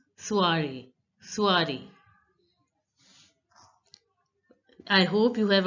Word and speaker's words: soirée: So the last E is not pronounced and OI is pronounced as ua. Ua. So it becomes soiree.